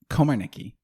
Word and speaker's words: Komarnicki: name beforehand uh komarniki Komar Nikki Komar Nikki okay Komar Nikki yeah I just realized I've I've never actually said your last name yes it's pronounced exactly how it looks okay for some reason